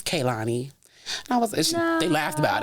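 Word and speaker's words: Kehlani: it right you know I was like Kanani this Kanani that they like it's k Lonnie I was they laughed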